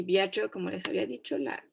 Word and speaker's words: viaggio: per il nostro y viaggio, como les había dicho, va a sonar como más bien así. Viaggio.